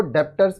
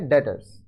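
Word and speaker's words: debtors: जाएगा आगे देखिए डेटर्स डेटर्स अब बहुत लोग इसको डेप्ट्स पढ़ते हैं इसका उच्चारण है प्रोनंसिएशन है डेटर्स डेटर्स are person and और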